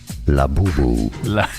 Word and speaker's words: Labubu: Let's learn how to say it. Laboo.